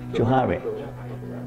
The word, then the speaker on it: Johari: How to pronounce Johari? Johari.